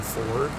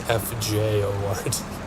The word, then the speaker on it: fjord: That's not how you pronounce that word. Is it? Yeah, it's like with a Y. It's like yeah, the J gives kind of a Y sound in there. It's FJORD.